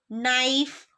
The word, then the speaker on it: knife: Then the letter K is silent when it comes before N at the beginning of a word. For example, knife, know, knowledge.